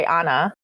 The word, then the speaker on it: Hannah: second one is joy hannah but they pronounce it silent h so joy anna as as they would